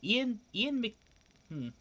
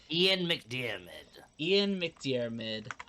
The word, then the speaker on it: McDiarmid: First, I know you just told me how to pronounce this man's name, and I forgot already. I've never said his name. Ian McDiarmid. Ian McDiarmid, famed actor of Emperor Palpatine, said in an